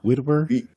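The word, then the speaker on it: Witwer: I always say his name wrong. Widward.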